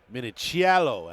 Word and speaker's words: Minichiello: The surprise and a pleasant surprise in Marcus Minichello. Minichiello as he told me it's best to pronounce. He likes to make sure you get that little bit of Italian in there.